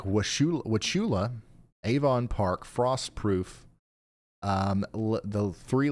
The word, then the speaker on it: Wauchula: It's pronounced Wauchula. Emphasis on the first syllable.